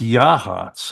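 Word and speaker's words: Yachats: laughed because she's from Seattle I said it's pronounced yahs I said where's the yah anyhow it's a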